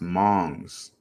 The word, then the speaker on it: Hmong: The H is silent. It's pronounced Mongs.